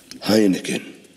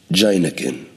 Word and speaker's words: Heineken: Heineken, pronounced Jineken, the bear maker.